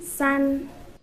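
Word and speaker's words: 三: How do you pronounce 2? And 3? San.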